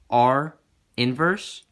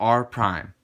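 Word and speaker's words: R′: It is pronounced as either R inverse or R prime.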